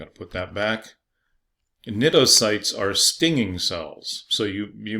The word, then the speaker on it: cnidocytes: The stinging cells are known as cnidocytes, and the phylum name is Cnidaria, and they both have a silent C.